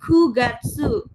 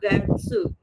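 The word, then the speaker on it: 九月: Tambahin gatsu, ku gatsu, bukan qatsu pakainya ku itu juga sama ini sebenarnya jam jam 09.00 Uji sebenarnya dia pakai Q.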